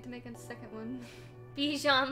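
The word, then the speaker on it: bichon: make a second one bijan like dijon mustard uh actually i don't know how to spell it but i'm pretty sure it's not like that there it is it's spelled i don't want to spell it out loud because i'm bad at spelling out loud but b-i-c-h-o-n like that b-sean like french because it's french he's a french doggo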